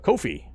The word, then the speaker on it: Ko-fi: very cool option uh Kofi uh so ko-fi a lot of people pronounce it coffee and that's kind of